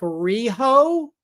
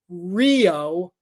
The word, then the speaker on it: Riho: It's Rio, like the movie Rio, RHIO. That's at least I guess they would spell it RHIYO. But yeah, Rio, not Riho.